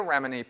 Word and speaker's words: Remini: In Going Clear, Leah Remini, how you pronounce her last name? Leah Remini.